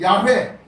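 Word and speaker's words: Yahweh: 영어로 말하면 제호바, 이거 갖다가 히브리어 원문으로 말하면 야훼, 발음이 야훼 하나님을 얘기하는 겁니다.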